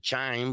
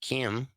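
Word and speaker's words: chyme: I don't know if you ever heard of chime but chime is sometimes what people hear when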